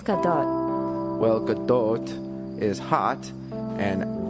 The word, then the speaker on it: Gadot: I thought it was pronounced Godot. I think it's Gadot.